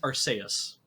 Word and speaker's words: Arceus: It is pronounced Arceus. Arceus. Yeah. There it is. It is because, well, in Japanese it's Arceus is how it's pronounced. It's so because the C part is represented by se. They're using the se katakana in there, so it's Arceus.